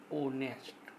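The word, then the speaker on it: honest: अब ये यहाँ पर एच साइलेंट हो रहा है, यहाँ से उच्चारण हो रहा है ऑनेस्ट।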